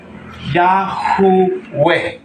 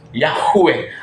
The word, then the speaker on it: Yah: yod he wow he pag ginawa mo siyang a ang sound magiging feminine siya kaya ang tamang pagbasa po dito ay yah Okay yah ang tamang pagbigkas ang tamang pangalan ng creator po natin yan po ay masculine sound kaya lahat po ng